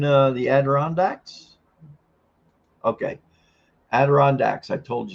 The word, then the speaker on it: Adirondack: It's actually the Adirondack Mountains pronounced / ed.r.n.dek.ma.n.t.n.z/ in American English. There you go, Adirondacks.